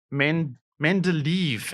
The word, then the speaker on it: Mendeleev: So Mendeleev actually is how you say it.